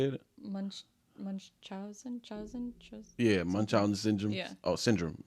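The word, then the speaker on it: Munchausen: Munch munchen. Yeah. Munchen syndrome. Oh, syndrome. Munchousen syndrome.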